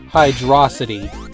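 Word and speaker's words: Hydrocity: Just for the record, it's pronounced hydrosity, like velocity.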